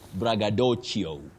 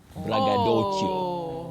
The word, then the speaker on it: braggadocio: But then when you come to this, it's from Italian. Then letter C takes the sound ch. So you say bragadoio bragadoio you get that bragio.